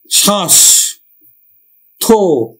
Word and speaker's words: স্বাস্থ্য: আমরা বফলার উচ্চারণ করি না এবং দন্ত স্বর উচ্চারণ করি না, তাহলে আমরা উচ্চারণ করবো কি শ্বাস থো, পরেরটা ওকার হয়ে যাচ্ছে স্বাস্থ্য। তারপরে দেখো তাহলে আমরা এটা